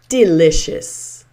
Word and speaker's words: delicious: So, you'll notice this word is pronounced delicious. Delicious. So, that's the uh at the end there.